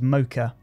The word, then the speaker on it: Mocha: with after effects and that is mocha or mocha depending on how you want to pronounce it so mokka ae or mocha aa you drop this onto